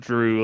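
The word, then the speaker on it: Jrue: normal white boy named drew oh no you you're you're thinking of a different type of drew like dr ew this is j-r-u-e you know what though makes the same sound so it does like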